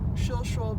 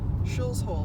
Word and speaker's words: Shilshole: We're here going by the Shilshole Bay Marina, not to be accidentally pronounced Shills Hole, which I have heard people who are not from this area say.